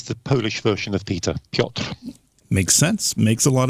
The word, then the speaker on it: Piotr: It's the Polish version of Peter, Piotr.